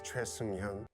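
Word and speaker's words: 최승현: Hello, my name is Choi Seung-hyun.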